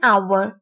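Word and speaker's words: hour: इन अ आवर और एन आवर dear kid आवर starts with a consonant but यहां पर as silent है दैट्ची today's task on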